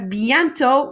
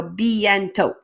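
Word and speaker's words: bientôt: on your foot so bientot and bientot just means soon remember in french we don't usually pronounce that last letter either so we have bientot not bientot all right prashan you've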